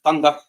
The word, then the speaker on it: Thunder Rosa: uh I don't like first off it's pronounced thundera yeah I'm not I